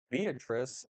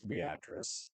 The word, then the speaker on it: Beatrice: And you definitely know I'm local because everybody else would say Beatrice. Beatrice is, I'm like, no, it's Beatrice.